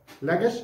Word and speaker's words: لجش: يبقى سوبر واور ولجش انطقها صح لجش بالذات لان في مدرسين بينطقها غلط لجش افتح اللان وافتح الجيم وسكن الشين معنى كده ان الدوله السماريه